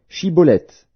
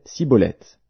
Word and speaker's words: Chiboleth: » Il lui disait alors, « Eh bien, dis Chiboleth. » Et il disait Siboleth, car il ne pouvait pas bien prononcer.